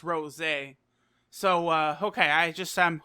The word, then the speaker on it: Rosé: the show it's not super saiyan rose but pronounced rose eh so okay I just Sam who on just